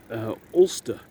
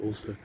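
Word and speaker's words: Alcester: was born in uh ulster in warwickshire um if you ever want to go and visit that village it's spelled all cester but the local school at ulster and his father was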